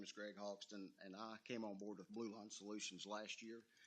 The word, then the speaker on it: Hogston: So, if I would, Greg Hogston, pronounce it for me. I've been called a lot worse. It's Hogston.